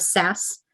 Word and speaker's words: SaaS: You can see there at the top, we also have SaaS, software as a service. So that's how you pronounce that.